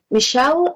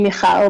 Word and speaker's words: Michal: Next on the list, Michelle. Is that the correct pronunciation of your first name? It's actually Michal, but that's fine.